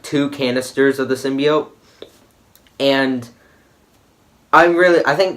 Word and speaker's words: symbiote: to mention the girl keeps pronouncing symbiote wrong it's not symbiosis in be oat I hate when people mispronounce that it makes me angry it's symbiote not symbiote okay Jesus Christ alright now